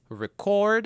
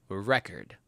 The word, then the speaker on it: record: The next one is record as a verb and record as a noun.